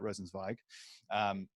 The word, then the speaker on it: Rosenzweig: Cynthia Rosenzweig I need to pronounce that rosensweig who leads the the climate impact climate impact